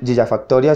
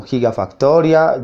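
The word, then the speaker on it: gigafactoría: construyó en un año o muchos no dicen gillafactoria sino gigafactoria giga Factory etcétera Ya pues por el tema de pronunciación entonces La idea es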